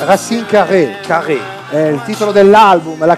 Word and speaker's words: Racine Carré: Dovrebbe essere l'accento sulla, sì, se non sbaglio, no? Qui. Racine. Dovrebbe essere Racine Carré.